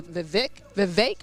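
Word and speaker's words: Vivek: being here on campus it is vi v rhymes with cake it's a very easy way to be able to remember his first name ramam yes we studied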